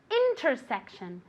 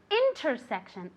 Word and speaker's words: intersection: say this very good intersection intersection the accent goes on the eye okay intersection one more